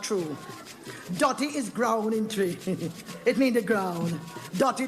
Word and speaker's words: Twi: name yeah man it's spelled twi but it pronounced tree i want good language and make me tell